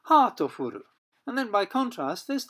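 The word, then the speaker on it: ハートフル: And the Japanese pronunciation of heartful in katakana English is hatofuru.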